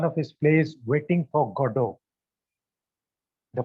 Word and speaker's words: Godot: of novels one of his plays Waiting for Godot the pronunciation is God of the spelling is g o d o t Gadot but we pronounce it as godo there are